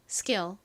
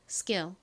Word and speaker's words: skill: 기술 발음 연습해 볼까요? skill 한 번 더 해 볼게요. skill 좋습니다.